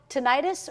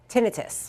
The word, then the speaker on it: tinnitus: right now it's called tinnitus or how do you pronounce the other way tinnitus and so both ways are okay to say rights are commonly accepted terms welcome to Western and